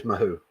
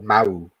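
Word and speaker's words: Mahou: My favorite Spanish laga is mahoo or mau. You don't pronounce the h when you're in Spain.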